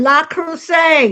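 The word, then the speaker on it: Le Creuset: Li Cruset. La Crus. That's how you pronounce it.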